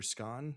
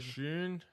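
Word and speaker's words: Schön: Scon, how we how we pronounce it? Dr. Shun.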